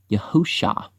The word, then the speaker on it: Yahusha: And Joshua and Yusha, the son of Nun, Yahusha is how you say Joshua.